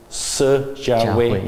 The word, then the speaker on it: Si Jianhui: So how do you pronounce? Si Jianhui.